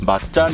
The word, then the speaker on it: Macan: 인도네시아어로 Macan 은 " 마찬 " 이라 고 발음 합니다 . 이 " 마짱 " 은 동물계 의